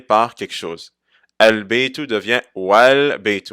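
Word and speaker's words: وَالْبَيْتُ: Al-Baytu devient Wal-Baytu. On ne dit pas Wa al-Baytu, mais on ne prononce pas le Hamza al-Wasl et on fait juste dire Wal-Baytu.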